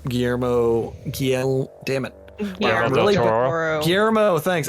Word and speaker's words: Guillermo: too someone brought up a good point where guillerm Guillermo damn it yeah Guillermo thanks I'm really bad at pronouncing today my bad um